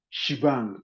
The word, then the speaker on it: shebang: As Shivan Okay, this ash exclamation is pronounced as shebang.